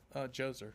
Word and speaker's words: Djoser: Is it Dozer or Djoser? Djoser.